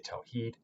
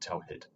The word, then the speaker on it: tawheed: And again, that can also be spelled with the straight line above the I to make the vowel long, so we say tawheed, not tawhid.